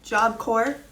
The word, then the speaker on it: Job Corps: I posted yesterday because turns out Job Corps, the S and the P are silent.